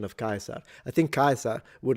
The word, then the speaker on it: Caesar: So I believe in German it's pronounced Kaiser, while in classical Latin it would be Caesar. And the difference would be that the S is a S and the R is fully trilled.